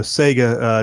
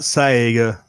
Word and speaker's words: Saga: No, Saga, not Saiga. It's spelled differently. It's just S-A-G-A, Walter.